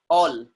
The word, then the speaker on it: all: Now the rule is saying if A is coming with double L, again sound will be O. For example, all.